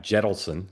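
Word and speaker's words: Jentleson: hometown, started by a former Reid aide, Adam Jettleson. Is that how you pronounce his name, Dan? Yep. Jettleson, Yep.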